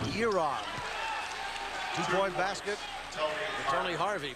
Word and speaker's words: Jaron: And it's Rue who comes into the game, and it's spelled Jaron, J-A-R-O-N, but it's pronounced Yeron.